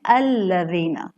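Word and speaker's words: الَّذِينَ: अब अगर आपने हमज़ा को लाम में मिलाया तो आप अल्लज़ीना का लाम मोटा तो नहीं पढ़ती ना, आप कहती हैं अल्लज़ीना।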